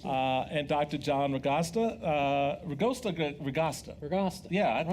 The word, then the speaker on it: Agosto: Agosto. Yeah, I thought. Rhymes with pasta.